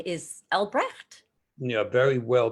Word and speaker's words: Albrecht: real name because your near real name is albrecht yeah very well pronounced better than most ich bin freya here